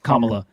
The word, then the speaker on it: Kamala: Is it Kamala or Kamala? Kamala.